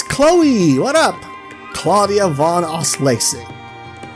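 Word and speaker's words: von Auslese: inviting us yeah it's chloe what up claudia vaughn os lacy right i pronounce it right right cassius bride oh damn i love it i love it i love it my name is claudia von ausley also i will be participating on behalf of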